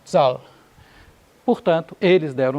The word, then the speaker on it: Zahl: E acontece que inteiro em alemão começa com Z, pronunciado Zahl.